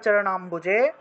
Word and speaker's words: চরণাম্বুজে: হয় ঠিক না কিন্তু ময়ের নিচে যদি বফলা থাকে আর সামনে যদি এরকম অ অথবা আ এরকম যদি পেয়ে থাকেন তাহলে মুও উচ্চারণ হবে না এটা যেভাবে আছে ওইভাবে অম্ব এরকমই উচ্চারণ হবে এটাকে মুও উচ্চারণ করা যাবে না ঠিক আছে আচ্ছা তাহলে